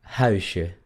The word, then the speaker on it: huisje: La otra palabra sería huisje, huisje. ¿Se dan cuenta que no digo huisje? Es huisje, je, huisje.